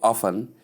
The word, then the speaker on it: often: Simply say often with a silent T.